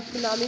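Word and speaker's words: tsunami: और सुनामी को प्रोनाउंस कैसे करते हैं स्टूडेंट्स, सु प्लस नामी, प्रोनाउंस सु प्लस नामी।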